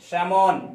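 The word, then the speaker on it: salmon: उसके बाद क्या है एम से पहले है इसलिए पढ़ेंगे सैमोन, सैमोन एक नदी का नाम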